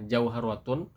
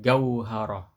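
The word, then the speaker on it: جوهرة: Nah, jauharatun ini bahasa fusha, tapi kalau bahasa Mesir amiyahnya jadi gauharoh ga ya.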